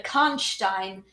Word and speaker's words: Karnstein: The pronunciation of the name, Stein is a Jewish person. Steen is Jewish, Stein is German. Am I right?